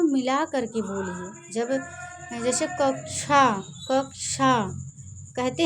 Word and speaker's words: कक्षा: जब जैसे कक्षा कहते हैं, अब ऐसे अगर छतरी वाला छ लिख देंगे तो उसको क्या पढ़ेंगे, कक्षा, ये गलत है। जब कक्षा पढ़िए तो उसको पढ़िए कक्षा।